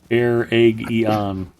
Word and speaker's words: Eregion: The wiki says air egg eon. So there, I got you. You can keep your aluminium. I know how to pronounce Aragian.